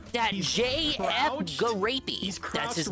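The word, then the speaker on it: Gariépy: And on top of that, did you know, right here, Eddie B, that JF Garapey, that's his name. That's actually how you pronounce it.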